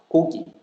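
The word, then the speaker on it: 고기: But the first one, it is k sound because it is in the first syllable. That's why it is k. Ko, ko, ko. The second syllable, the kiok of the second syllable is not in the first syllable. So that's why it is g sound, not the strong one. That's why kogi.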